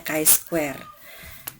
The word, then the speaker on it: chi-square: yang namanya uji kwe Inget ya bacanya kain Square jadi uji beda proporsi